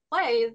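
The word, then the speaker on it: Pai: called is it pronounced play p a i yeah exactly it's a fun uh take on the name play exactly yep but using play with AI and yeah it's kind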